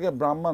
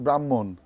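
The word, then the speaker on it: Brahman: বলে রবীন্দ্রনাথ টেগোর তো এই ডিফারেন্সটাই এটা আসলে ব্রাহ্মা না এটা হচ্ছে আমরা যদি আমরা যদি বাংলায় উচ্চারণ করি কিংবা ইন্ডিয়ান ভাষায় উচ্চারণ করি তাহলে কিন্তু এটা আসবে হচ্ছে ব্রাহ্মণ তো হচ্ছে ওরা ইচ্ছা করে এই নামকরণটা ইন্ডিয়ান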